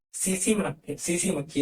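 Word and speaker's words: tsetse: सीसी मक्खी, सीसी मक्खी, इसमें टी लिखा जाता है, वो टी साइलेंट होता है।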